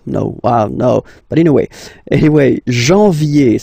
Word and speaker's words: janvier: But anyway, janvier, so that's the way to pronounce it. Janvier, A-N, en, okay? And then, yé, yé, yé, janvier.